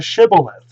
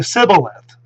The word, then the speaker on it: shibboleth: test to get across was to say shibboleth but the aphromites could not pronounce the shen and so when instead of shibboleth and they would say sibyllite or or something like that